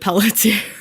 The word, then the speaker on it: Pelletier: That's how you would pronounce it correctly, but he just pronounces it Pelletier.